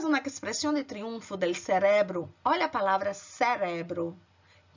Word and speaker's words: cerebro: Já em espanhol você fala cerebro, a força no re.